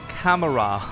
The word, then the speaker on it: camera: It wasn't until 30 Rock that I realized, like, I didn't actually pronounce camera. What do you mean he didn't actually pronounce camera? The way you say it, there's no E.